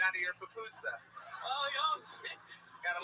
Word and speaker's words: pupusa: Is it pronounced pupusa? Pupusas. I always thought it was puposa for some Oh, reason.